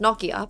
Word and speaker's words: Nokia: This was during the time when Nokia was really po, which in Finnish is pronounced Nokia, but whatever.